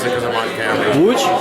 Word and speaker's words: Łódź: Wait, now I forgot how to pronounce it because I'm on camera. Łódź? Łódź, yeah, in Łódź.